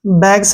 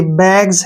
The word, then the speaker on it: bags: अब जैसे नेक्स्ट आ गया BAGS, ठीक है ना, बैग्स नहीं है ये, बैग्स है, बैग्स, बैग्स, ठीक है ना, एस से पहले जी आया है, बैग्स बनेगा, बैग्स मतलब थैले, काफी सारे थैले।